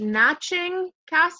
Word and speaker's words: Naching T. Kassa: So I'm here with, is it pronounced Naching, Kassa? Yes, yes, Yes. it is exactly right.